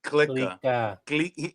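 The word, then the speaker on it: Clika: Click. Gardo says it's click as in click. Uh but in spanglish version of it.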